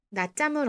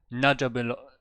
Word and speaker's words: 낮잠을: But you clearly have to transform the whole letter from an L to an R if you want to say it like this person. 낮잠을 언제 잤어요? So this is definitely not the normal L sound, L-like sound that you usually hear for this syllable.